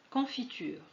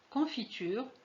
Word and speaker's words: confiture: Confiture, vous voyez qu'on a écrit un E ici, mais on ne le prononce pas.